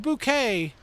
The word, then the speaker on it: bouquet: Is it boke bouquet bouquet? It's pronounced bouquet.